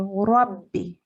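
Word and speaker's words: رَبِّ: So while we're reciting a letter with a shadda above it, it has to be pronounced quite strongly. So Rabbi.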